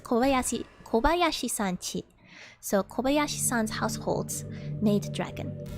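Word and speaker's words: 小林さんち: I always get it a little confused because chi is written, I think, like uchi, like Kobayashi-san no uchi. But the way it's pronounced is not the same as I would have expected. So it's Kobayashi-san chi.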